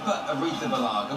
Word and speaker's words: Arrizabalaga: goal for Chelsea keer AR Baga which you don't know how to say his name if you know the panut Colada Song which goes if you like peanut colada just remember that is